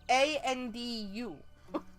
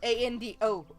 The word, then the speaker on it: Andu: It's a U, not an O. It's A-N-D-U. Not A-N-D-O. That's Ando, not Andu.